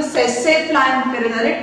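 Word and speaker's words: tsetse: Next, coming to the sassafly, T is silent over here.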